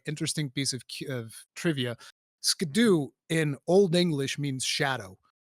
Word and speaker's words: Scadu: the DLC it's called the scadu tree or the the shadu tree I'm not sure how it's supposed to be pronounced but it's basically the skadoo tree that's how you write